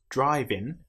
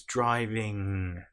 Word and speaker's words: driving: You'll notice it's not driving. And even some English people will pronounce this wrong depending on which part of the country they're from. It's driving.